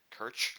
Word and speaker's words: Kerch: I think you pronounce it the Kerch, like you'd pronounce merch.